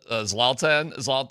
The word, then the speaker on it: Zlatan: Are you laughing with him and uh Zlatan? I'm saying his wrong name wrong. Zaltan.